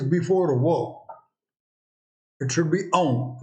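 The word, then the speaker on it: ॐ: So what is the pronunciation of this? And the pronunciation of this is aum.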